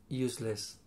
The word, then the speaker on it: useless: Useless. How do you pronounce this S? Use. Why? It's use. Like a name. Not a name. A noun. A noun. And less? Less is an... so, useless. Useless.